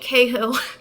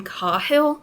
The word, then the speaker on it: Cahill: So I think Cahill, I think he pronounces his name Cahill, but, I'm American, so we're going to say Cahill.